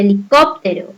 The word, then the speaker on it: helicóptero: Caso de helicóptero, ¿cuál tiene la mayor fuerza de voz? ¿Qué sílaba? Muy bien, cop.